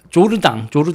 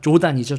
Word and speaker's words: Jordan: 프랑스어로 조르당 바르델라 조단이죠. 조단 영어로 하면 JORDAN 조르당 바르델라 이 사람이